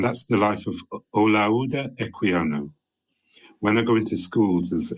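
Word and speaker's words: Equiano: you to say my name my name is eano can you say that um and so I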